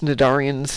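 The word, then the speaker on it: Cnidarians: They're talking about these things, Nadarians, and I'm like, "Huh, that's a weird word." And I finally Googled it. It's like, "Oh, that's how you say that word. The C is silent.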